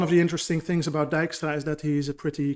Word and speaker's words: Dijkstra: is is this one so for all of you non-native dutch people you pronounce it dijkstra and he used to